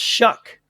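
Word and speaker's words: Shough: Oh no, his last name but it's pronounced shuck apparently.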